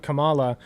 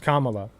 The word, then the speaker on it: Kamala: learned he's mispronouncing it I was pronouncing it Kamala it's pronounced Kamala dumbass it's in I'm sort of branding Pokemon